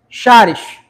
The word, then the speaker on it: charis: Eu, paraense leio, vou ler e ch com chá. Charis, aí vai procurar a pronúncia, né? Como é que fala? Charis, caris.